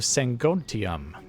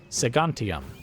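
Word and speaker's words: Segontium: new king Burdick of sangontium it's a segantium so I just pronounced that all right and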